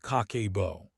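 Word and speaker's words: 家計簿: It is pronounced kakebo.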